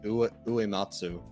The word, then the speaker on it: Uematsu: Just to move on real quick, Final Fantasy composer Nobuo Uematsu takes I mispronounced that last name, Uematsu rather. That is correct.